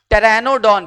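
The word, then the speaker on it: Pteranodon: फिर जिनके पास जो उड़ सकते थे, इनको टेरानोडॉन, पी साइलेंट है।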